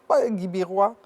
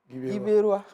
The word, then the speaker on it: Guibérois: Faut prononcer, faut pas faire Guibérois. Faut prononcer comme on prononce au village. Guibérois.